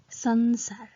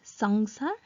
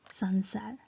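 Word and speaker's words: संसार: sirabindu is used but it is pronounced as sansar not sangsar it is pronounced as sansar so which means word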